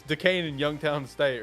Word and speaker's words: Duquesne: I don't know how to say this team's name, but Duquesne. How do you say that? Duquesne. Is it Duquesne. Duquesne? What a English language is weird. English language is weird, bro. It's Duquesne.